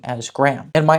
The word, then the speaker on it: Graham: home turned into gry home gry Gram Gram Graham now why did I ask about this word